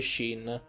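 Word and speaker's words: Shin: certa maniera si può si legge sheen che però significa comunque divinità oddio giapponesi sono particolari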